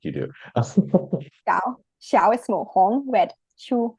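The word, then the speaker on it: 小红书: The X doesn't make the normal sound you would think. So, No, it's more like an SH sound in Chinese, but you gotta like say the SH and then smile at the same time.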